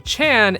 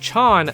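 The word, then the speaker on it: -chan: However, this dub usually pronounces it like name Chan instead of Chan like in Japanese, but sometimes it doesn't.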